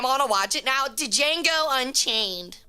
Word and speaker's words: Django: Django Unchained. Or it's just Django Unchained, but it's spelled Django.